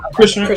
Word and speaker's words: Chrisean: separation between him and ChriseanRock, right? That's how you say her name. Christian.